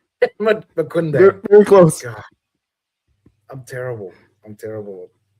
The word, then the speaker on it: Maquindang: Is that how you pronounce it? Very close, Dr. Scott. Maquindang. Maquindang.